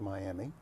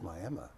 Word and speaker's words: Miami: it was Miss Rodeo Miami I've only had two local titles leading me up to Miss Rodeo Oklahoma and I'm very thankful for both of them folks in Oklahoma it's not Miami it's Miami yes I got that